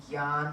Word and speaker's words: ज्ञान: ज्ञान with a J as in Gyan. That's how it's spelled in when you spell out Sanskrit words in English. But Gyan, no, the word is no. That's why JN.